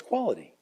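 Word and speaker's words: QUALED: And it's pronounced Qual, E-D, say it fast, and it's quality.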